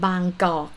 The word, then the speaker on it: Bangkok: a tip for you bangkok come from the oh name naga of grundy we call it bang go in the past and foreign probably come in like cannot pronounce banggo they say bangkok bangkok right but now ha